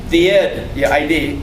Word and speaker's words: id: The ID. The id. The ID. It's pronounced id.